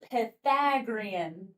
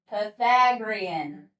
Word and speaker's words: Pythagorean: Yes, it's the Pythagorean. That's how you pronounce it. Yeah. So, hey buddy, say that word. So, everybody, Pagrian. Pythagorean.